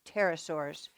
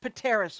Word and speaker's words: pterosaurs: that's right pterosaurs pterosaurs you might notice there's a P but it's a silent P you don't say it's just just pterosaurs pterosaurs that's right not Pateros or no no okay pterosaurs